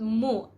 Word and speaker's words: mu: we will just put mu mu okay some spellings would say m-o but actually bisaya words they pronounce it um a little harder so the o there is the most appropriate okay just comment down below